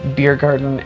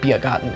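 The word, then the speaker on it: Biergarten: those funny it's because i'm saying them how they would be pronounced in german instead of beer garden and summerfest i pronounce it the german way which is biagotten and zomafest um i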